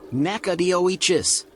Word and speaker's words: Nacogdoches: It is pronounced Nacogdoches.